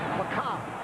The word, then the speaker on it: macabre: This is a, listen to this, macabre.